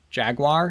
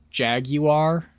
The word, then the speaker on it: Jaguar: and Jaguar, and then if you are Jeremy Clarkson, you say Jaguar, not Jaguar.